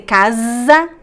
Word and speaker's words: casa: the word Casa if you say casa casa in Portuguese that means something else that means hunt to hunt but if you say Kaza with the z sound that's a house a home so there is a big